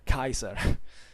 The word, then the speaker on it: Caesar: even when caesar and tarquitos or say better kaiser at this point caesar and tacitus let's say better talk in ecclesiastical pronunciation but their real names were kaiser and